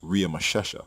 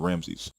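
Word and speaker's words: Ramesses: the royal name ramsy in which was actually pronounced RI masesa by native Egyptian speakers not ramsy the Egyptian name in gen 4711 and exodus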